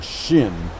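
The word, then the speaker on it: hsin: Chinese call that the shin or the heart mind spelled in romanized letters HS i n but still pronounce Shin which means the sub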